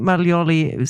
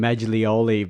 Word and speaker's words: Maglioli: And I'm wondering I'm calling him Maglioli, but you're Maglioli. Maglioli. And I've got a silent G in my surname, so I should know better.